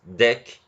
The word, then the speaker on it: deque: the DQ operation and it's pronounced deck again so that like